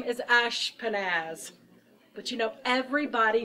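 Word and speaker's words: Ashpenaz: person here in Babylon and my name is Ash panaz but you know everybody mispronounces my name so I came up with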